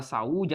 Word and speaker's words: saúde: Na palavra saúde, a separação silábica fica assim, ó, saúde. Porque na pronúncia você consegue perceber que esse U fica sozinho.